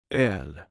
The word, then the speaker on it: öl: And the last one is the letter O with anlout which is pronounced like the sound in the word her. This letter can be found in the Swedish word for beer. L.